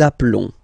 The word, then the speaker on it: appelons: Nous appelons. Nous appelons. Okay, final S doesn't exist.